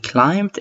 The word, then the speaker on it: climbed: الب هنا لا تلفظ. We climbed in معناها صعدنا أو تسلقنا.